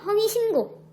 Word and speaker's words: 허위신고: 이때 니은과 기역은 어간과 어미의 관계가 아니어서 이 기역이 된소리대기가 일어나지 않고 그대로 허위신고라고 발음해야 되고요.